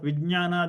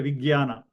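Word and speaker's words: vijñāna: Okay, and a lot of people do not pronounce this right because instead of ja they pronounce ga. Like instead of vijnana they say vigyana. Okay, so the right pronunciation is ja and nya.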